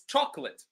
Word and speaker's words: chocolate: So it's chocolate. My favorite food, for example, or my favorite snack is chocolate, right? So you can see that chop is louder than the rest of the word.